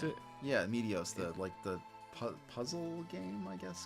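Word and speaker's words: Meteos: Like I know that, like Medios. Right? Oh, is that how you pronounce it? Yeah, Medios, the puzzle game, I guess, kind of.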